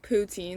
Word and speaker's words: poutine: reason like anyway sorry i think it's pronounced poutine because it's like routine but with a p and anyway it's like